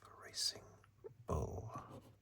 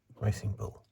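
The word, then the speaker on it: Racing Bulls: one one still six racing bull I will put the S because that's officially how it's written but I refuse to pronounce the S because it's silly racing bull.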